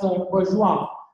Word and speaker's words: Bourjois: This is again so we pronounce it as Bourjois.